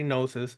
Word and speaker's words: gnosis: email me at Sith nosis nasis how you want to pronounce it I say nosis screw you if you